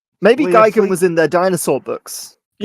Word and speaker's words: Gigan: Gigan. The emphasis on the sec the A. You guys are saying Gigum.